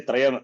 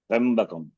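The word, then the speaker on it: त्र्यम्बकम्: The Taka that some people say Trayam, that is wrong actually. Trambakam. There is no vowel in between. So Trambakam. Trambakam Majamake Sukandim. So Trambakam.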